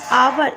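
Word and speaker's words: hour: बुधवार अब यहां पर अवर इसको अवर पढ़ने हैं अवर ने अवर पढ़ने तो इसमें हा साइलेंट होता है हा के नीचे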